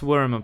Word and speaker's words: Wyrm: Alors ça se prononce Worm par contre.